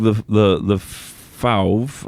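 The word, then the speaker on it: LeFauve: So yeah, actually, Meg the Fauve, I know I'm not pronouncing that right.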